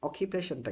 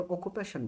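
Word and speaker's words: occupation: অকিপেশনটা কি? মনে রাখবেন এটাকে অনেকে অকুপেশন বলে। এটা অকুপেশন না। এটার উচ্চারণটা হবে অকিপেশন।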